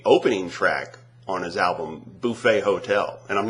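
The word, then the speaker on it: Buffet Hotel: made it the opening track on his album bouet hotel and I'm not mispronouncing that it is bouet hotel bouet hotel that's how it's pronounced um yeah make it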